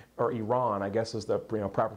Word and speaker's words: Iran: when we started around with Iran or Iran I guess is the proper pronunciation but you get what I mean but